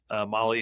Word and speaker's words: Mahle: And for everybody that's listening to this, Molly is spelled Mahle, and you can find everything.